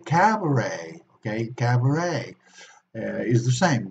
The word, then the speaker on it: cabaret: toilet in Spanish be they the same Oh cabaret cabaret gate cabaret is the same we see at E but we don't pronounce it or Cache a cachet catch a